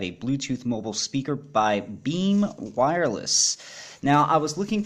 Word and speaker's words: Bem: this particular brand now I know that there are pronounced beam because on the back of the box it says that you pronounce it beam so that's handy if